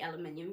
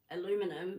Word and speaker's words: aluminium: And Americans should say aluminium because at the end of the day, when you're working in science, that's how you have to pronounce it, Really?